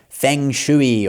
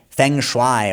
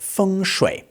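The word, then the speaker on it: 风水: A lot of Westerners might call this feng shui or feng shway or something, but actually it's pronounced feng shui. The first tone and then the third tone, feng shui.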